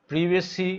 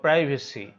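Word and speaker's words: privacy: শব্দের শেষে যদি সিওয়াই থাকে, অবডিওরেসি, প্রিভেসি বা প্রাইভেসি, এটা ব্রিটিশ উচ্চারণ হচ্ছে প্রিভেসি, আর আমেরিকান উচ্চারণ হচ্ছে প্রাইভেসি। উত্তর আমেরিকার উচ্চারণ হচ্ছে প্রাইভেসি আর ব্রিটিশ হচ্ছে প্রিভেসি।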